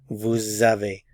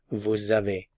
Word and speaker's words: vous avez: However, since a vowel follows, there's liaison, and we pronounce the S, and remember, it sounds like an English Z sound, z. Vous avez, vous avez, vous avez, and we don't pronounce the final consonant, vous avez, vous avez.